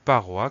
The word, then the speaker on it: paroi: Il s'agit du mot paroi qui s'écrit exactement comme il se prononce avec un O et un I pour avoir le son OA, mais ça c'est pas une surprise, et aucune lettre à la fin.